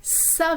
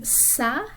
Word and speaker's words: ça: And that basically means that that letter should be pronounced like a S, almost like an S sound.